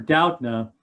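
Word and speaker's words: Doudna: i'm sorry uh d-o-w-d and then like nuh kind of thing that's how you pronounce her last name but uh jennifer doutna um recently you might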